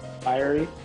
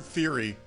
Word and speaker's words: fiery: title of your book fiery fiery okay how else would you pronounce it i've heard theory and i was thinking that can't be right that can't be right it's gotta be fiery right but that's just